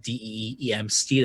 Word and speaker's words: DMST: Y'all can find me on Twitter at DEEMST. That's DMST phonetically. It stands for slide in my DMs and talk to me about The Last Airbender.